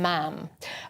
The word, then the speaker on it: ma'am: Whereas with Camilla, the Queen Consort, it would be Your Royal Highness, and then Ma'am. Rhyming with ham and not mom, as in palm.